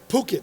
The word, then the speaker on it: Phuket: but I learned the hard way then it's pronounced Phuket so when you fly into Phuket don't get off like I did and say